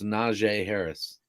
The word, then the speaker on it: Najee Harris: there yeah and ryan yex i did say najee harris's name right that's how you say it it's najee harris i don't know what you're talking about i